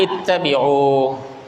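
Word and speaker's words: اتبعوا: Ini kalau ada orang nggak ngerti dia bacanya fathah. Padahal harusnya bacanya kasroh.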